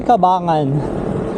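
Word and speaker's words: Cabangan: Tama kabanggan or kabangan? Kabangan. Kabangan. Okay ganon pala kailangan may sleng cabingin.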